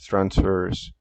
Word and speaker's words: transferase: and decrease in GCT stands for glutathione S transferase. How do you pronounce this word?